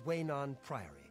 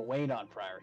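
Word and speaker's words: Weynon Priory: And this is Waynon Priory. Oh, Waynon Priory. I've been mispronouncing the whole time.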